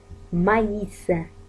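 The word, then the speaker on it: maïs: مثلا مايس عندنا M A I S، ما ننطقش ال A I كأي، لا، ننطقها كياء. مايس، مايس، مايس يعني ذرة، مايس.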